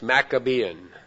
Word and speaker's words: Maccabean: the maccabean period in maccabean is uh m-a-c-c-a maca and then Bean b-e-a-n pronounced maccabean from 165 to about